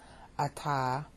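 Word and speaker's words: אתה: Ata, you, I.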